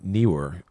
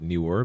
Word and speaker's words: NEEWER: So this review is for an LED video light by the company NEEWER. I usually pronounce it Newer, but Neewer.